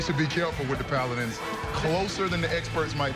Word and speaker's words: Paladins: Yeah, and it's pronounced Paladins, people.